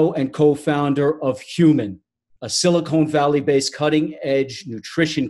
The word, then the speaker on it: HVMN: the company and then the acronym is human h v MN but it's pronounced human we pronounce it by